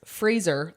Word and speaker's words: Fraser: his name m and this helps Fraser like laser so just remember laser that's what I do